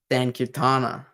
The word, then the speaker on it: Sankirtana: Sankirtana or Sankirtan. I don't say it with the A, but you can say it, you can pronounce it with an A.